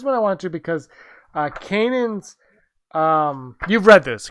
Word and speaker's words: Kanan: Is it pronounced Kanan? Yeah. Kanan.